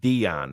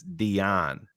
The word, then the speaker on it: Dion: It's not Dion. It's Dion. Is the, Okay. the proper pronunciation.